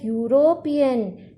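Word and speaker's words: European: उसी तरह यूरोपियन, यू, तो यहाँ पे हिंदी लेटर य का साउंड आ रहा है जो कि एक कॉन्सोनेंट है।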